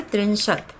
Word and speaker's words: त्रिंशत्: 31 को एक त्रिंशत, त्रिंशत इसका उच्चारण होता है त्रिंशत, और 32 को द्वात्रिंशत,